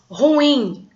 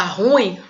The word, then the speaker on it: ruim: Por exemplo, ruim. Aí sim a sílaba tônica é no i, ruim. Tem gente que fala ruim, como se a sílaba tônica fosse no ru, né?